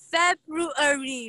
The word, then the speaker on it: February: da won Feb de make sure to pronounce both R sounds.